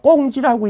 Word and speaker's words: 공지: 이게 자꾸 이제 혼동되신 분들을 위해서 쓸 때는 공지라고 쓰지만 읽을 땐 제가 꽁지라고 읽으라고 내가 자꾸 그럽니다. 왜? 짜투리 남은 땅이니까.